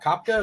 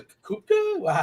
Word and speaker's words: Koepka: It's not Kopka. It's a Kupka. How do you say his name? I've heard of him. Kepka.